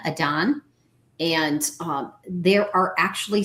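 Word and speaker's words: adhan: It's spelled A D Han Adan.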